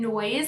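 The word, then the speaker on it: Noize: The first BOLO brand that I want to mention today for outerwear is the brand Noise. This is spelled N-O-I-Z-E.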